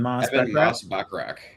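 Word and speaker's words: Moss-Bachrach: How do you pronounce his last name? Moss Bachrach.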